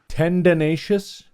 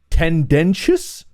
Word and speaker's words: tendentious: Tendenacious. Tim. Tendenacious. Yeah. Tendenacious. T. How do you say that word? I don't know what word you're saying. Tendonatious. T N D N T I O U S. Tendentious.